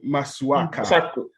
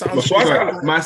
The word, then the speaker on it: Masuaku: or fluke against Alpha Masuaka. Masuaka said he was surprised. Masuaka. It's Masuaku. Exactly. I know. I was going to say Masuaka. What? Masuaku.